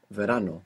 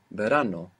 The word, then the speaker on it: verano: live we need to open up that Association of the letter V to include that soft B maybe you look up the word in the dictionary for summer which is Verano or Verano now if you just